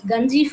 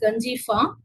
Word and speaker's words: Ganjifa: So we have to pronounce Ganjifa only, not a ka sound. It is Ganjifa.